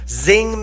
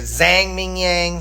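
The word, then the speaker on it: Zhang Mingyang: Zing Ming Zang, I'm sorry, I said Zing earlier. Zang Mingyang. Sorry, I apologize for the uh incorrect pronunciation. It's Zang Mingyang.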